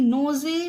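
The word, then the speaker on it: nose: जाएगा यह पढ़ना गलत होगा इसमें भी ई साइलेंट है क्योंकि ई से पहले ओ आया है रोप एन ओ एस ई नोज नहीं गलत एन ओ एस ई नोज एच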